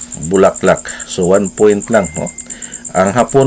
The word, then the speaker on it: bulaklak: pronounce kay matod pa sa insik ah palo-palo bulaklak so one point lang ang hapon ah hapon Japanese ng ah kining Miss Universe iya pong pag-pronounce paro-paro burakrak so one point so wala ng excited na